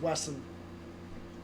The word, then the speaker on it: Wesson: Wesson. Wesson, not Weston. You can read the side of this if you want. It's Wesson. It does say. It's Wesson, not Won. I've always heard a T.